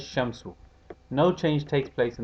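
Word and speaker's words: الشمس: solar letter for example ashams or al-shams is pronounced as shamsu no change takes place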